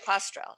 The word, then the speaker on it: Postrel: is the ama with virginia pastrell did i pronounce that right okay postural yeah and virginia thank you